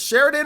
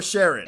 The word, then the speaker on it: Sharon: Is it Sheridan or Sharon? It's Sharon.